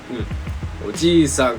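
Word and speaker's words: おじいさん: Oji-san.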